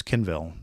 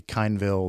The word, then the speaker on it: Kinville: And there are people who mispronounce Kinville. They call me Kineville. They call me Canville.